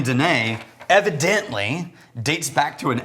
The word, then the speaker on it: Danefae: it's uh pronounced Danae oh I can't tell that story never mind